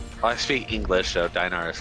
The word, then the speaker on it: dinar: Really bad if you were to pronounce the I as E, I think it would be better. It's dinar, maybe? Ah. Or, I mean, that's how you're supposed to do it. Denari.